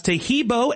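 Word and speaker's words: Taheebo: Tahibo is spelled T like Tom, A-H-E-E-B like boy. Oh, that's Tahibo, and then continue with the word tea, and then the word club.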